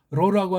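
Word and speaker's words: ρ: 로 이걸 잘 또 발음한다니까 히읗을 앞에 놓고 이런 식으로 한다고 이거예요. 왜? 로라고 하는 걸 소리를 못 내는 애들이 하나 쓸데없는 걸 붙인 거예요. 그냥 로 하면 돼요.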